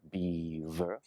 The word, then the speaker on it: beaver: very tricky one because you have the BMV with beaver beaver V lips touch V is your top teeth and your bottom lip beaver how would you